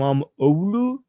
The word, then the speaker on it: İmamoğlu: So you're saying the G is W. I am imam Olu.